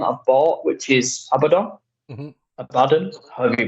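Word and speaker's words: Abaddon: I have one I've bought which is abadon abadon you pronounce it and I'd love to paint G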